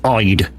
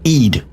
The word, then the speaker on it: Ide: I mean, it's just like we've got a little village, and it's spelled IDE. Now, yes, if you look at it, it's Ide. We don't call it Ide. We call it Eid.